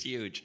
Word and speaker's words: Hygge: It's pronounced as Huga, as you can see on the top.